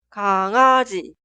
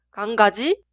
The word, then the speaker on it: 강아지: Un error muy común es pronunciar así. 강가지, 고양기, 병가리. Estos son incorrectos. Simplemente suena 강아지, 고양이 y 병아리.